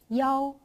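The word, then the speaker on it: 幺: In speaking, when you type numbers, if there is "yi", you could say "yao" instead. That is because the pronunciation of "yi" and "qi" are quite similar. So to distinguish them, you can change "yi" to "yao".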